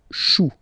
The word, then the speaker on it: choux: Then, un chou, okay, remember, when you combine this C and H, you get the sound sh. Chou, un chou, pluriel, des choux.